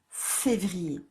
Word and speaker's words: février: On l'a déjà écrit plusieurs fois, le mot février. Février. Donc yé.